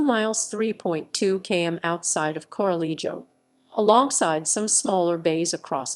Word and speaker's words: Corralejo: Corralejo. Corralejo, pronounced Koraʻlexo, is a town and